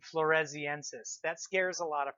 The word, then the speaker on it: floresiensis: how to pronounce it she was found on the island of Flores that's where we get the first part flores en says e ANSYS just means